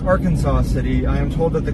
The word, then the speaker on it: Arkansas City: Uh, no, we are in Ar Kansas City. Ar Kansas, Ar Kansas City, uh, Kansas. I am told that it is not pronounced Arkansas City.